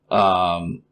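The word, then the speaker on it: העולם: Ha'olam is the pronunciation of the Hebrew word.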